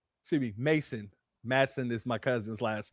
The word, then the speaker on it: Mason: Madam CJ Walker, yes indeed, Harriet Tutman, Biddy Matson, excuse me, Mason. Matson is my cousin's last name, but that's the way it's pronounced.